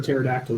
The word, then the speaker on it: pterodactyl: can't you hear a pterodactyl use the restroom I don't know cuz the P is silent that's definitely bad you